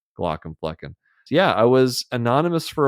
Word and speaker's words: Glaucomflecken: and so I went with a much easier pronounce Glock and fleen yeah I was Anonymous for a while was